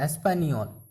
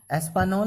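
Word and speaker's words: Español: जैसे मैं एग्जांपल दिया था, मैं स्पेनिश में स्पेनोल बोलते हैं, एस्पानियोल, ओके। एस्पानोल नहीं बोलते हैं, क्यों? क्योंकि इसमें एन के ऊपर एक एसेंट है, इसलिए एस्पानियोल, एस्पानियोल। ये जो पूरी तरह से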